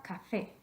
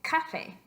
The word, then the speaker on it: café: vocales, pero dice que si la palabra termina en vocal, el estrés natural de la voz cae en la penúltima sílaba, which would make it café. Café, café. No queremos decir café, sino café, café.